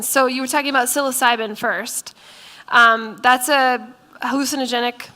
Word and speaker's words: psilocybin: you were talking about psilocybin first um that's a hallucinogenic medication as you're talking about our drug can you say it name again psilocybin it starts with a P it doesn't sound like